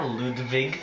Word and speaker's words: Ludwig: center yes how Do You Like Me Now ludig apparently that's how it's actually pronounced on my first playthrough the fact that